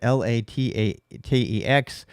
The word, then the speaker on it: LaTeX: I know people pronounce it differently. That's how I pronounce it, LaTeX.